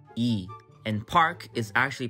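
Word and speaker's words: 이: Lee is actually pronounced as E, and Park is actually pronounced as Park.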